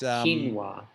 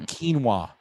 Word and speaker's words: quinoa: And it's quinoa. It's not quinoa.